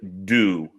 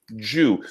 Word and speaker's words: due: They often will pronounce a D, J at the beginning of a word. We would say do, and you would say Jew.